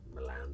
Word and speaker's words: Milan: Everyone's saying Milan the American way because they've heard Chris say Oh, so. how do you say it? We say Milan.